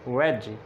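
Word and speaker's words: wedge: तो देखें इनमें डी साइलेंट है सब में। इसको हम पढ़ते हैं बैज, इसी तरह एज, हैज, वेज।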